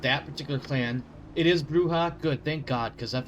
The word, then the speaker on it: Brujah: I assume it's pronounced Bruha, by the way. Not Brua.